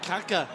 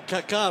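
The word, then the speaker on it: Kaká: Happy Feet Kaka. Or Kaka, rather. You've got to put that accent on the end of it.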